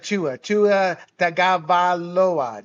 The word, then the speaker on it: Tua Tagovailoa: What do you see out of Tua Tagovailoa? Did I pronounce that right?